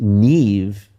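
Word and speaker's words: Niamh: We were really thinking of there's a the Irish name Nev. Yes. And the only problem is that Neve the Irish spell it because they love to do this. The Irish are such ornery bastards. They love they'll be like, "It's ne how's it spelled?"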